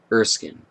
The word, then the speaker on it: Erskine: the following pronunciation is brought to you by pronounce names comm erskine bowles I'm calling extreme dr.